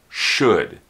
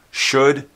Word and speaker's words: should: say should pronounce it should should rhymes with good it also rhymes with could and would should good could would